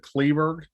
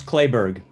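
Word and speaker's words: Kleberg: say your name wrong is it kleeberg close clay berg library yeah great thank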